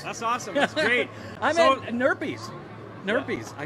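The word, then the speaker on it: Nerpy's: everybody's watching this that's awesome great owner peas nerd peas I said it right yeah you said it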